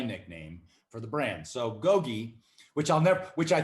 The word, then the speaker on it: GoGi: i'll call it gogi it's kind of french they'll mispronounce it they'll probably call it goji or go and i